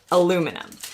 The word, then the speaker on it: aluminum: If you're really into watching channels like mine, you might already be familiar with the fact that Brits say aluminium and Americans say aluminum.